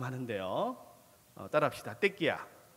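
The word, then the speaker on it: תקיעה: 어때 끼 야 라고 발음 하는데요 아딸 합시다 때 끼야 발음을 조심하셔야 되요 4 때 끼야 아 이때 끼야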